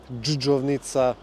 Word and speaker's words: dżdżownica: jest Też żeś są dwie takie same spółgłoski obok siebie to wymawia się obie jak na przykład Anna dżownica w szkole Uczyłem się